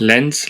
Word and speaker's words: Lens: Can we just read it phonetically? Lens.